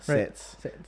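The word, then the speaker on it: SATS: a dishwasher okay for sets sets s-a-t-s sets just so i don't mispronounce that sets in-flight catering so this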